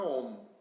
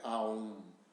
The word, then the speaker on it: Om: Não é Aum. Aum é como se escreve, né? Não existe Aum no mundo oriental. A contração do A com U dá o O, né? O pessoal esotérico é que criou o Aum. Então, Om tem a fase O e